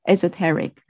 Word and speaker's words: esoteric: it uh a asa esoteric esoteric yeah that's just should be put on the second syllable taric taric esoteric and the second one